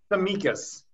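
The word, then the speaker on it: Tsimikas: olympiacos 12 million pounds sorry his name is the mikas the mikas okay great so um so uh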